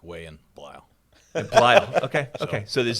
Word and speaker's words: Bleill: Today with us is Bleill. Rhymes with smile.